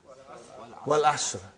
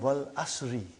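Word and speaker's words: والعصر: What is the first ayah? Wal Asr. Have you ever noted down what is written there? It's called Wal Asri.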